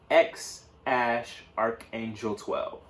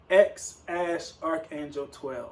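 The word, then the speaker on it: X Æ A-12: But apparently it's pronounced X-Archangel 12. X-Archangel 12.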